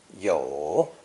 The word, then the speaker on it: 有: Pronounced third tone, 有, 有.